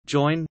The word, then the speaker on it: jōin: Chinese, Chan Dingyin Pinyin, Chan Dingyin, Japanese pronunciation, join, Jokai join.